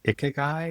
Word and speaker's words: ikigai: I think it's pronounced ikigai or ikiki diagram.